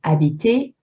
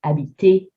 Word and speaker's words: habiter: So we talked about habiter and manger. If you remove the ER and put an EZ, you'll get the same sound, habiter, manger.